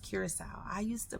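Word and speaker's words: Curaçao: Now, the funny thing is I didn't know it was pronounced Curacao. I used to pronounce it Curacao.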